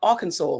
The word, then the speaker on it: Arkansas: I don't know how it's spelled. R Kansas. A R K A N S A S.